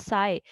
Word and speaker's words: psi: this is psi, FPSI, we pronounce this symbol as psi.